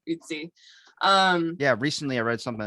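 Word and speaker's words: Ötzi: I think Otzi. like he's like the yeah. Yeah, I'm saying because it's got the umlaut over the O, so I'm pronouncing it a little different. But yeah, Utsi.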